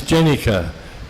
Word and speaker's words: Jenica: I told him what we had named him, and Prabhupada said to me, no, his name is Jenica, you're mispronouncing it.